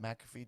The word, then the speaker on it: McAfee: Did you guys see McAfee's promo or Pat McAfee?